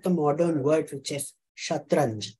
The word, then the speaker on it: shatranj: And that's how we get the modern word for chess, shatranj. Chatrang becomes shatranj to suit Arabic pronunciation.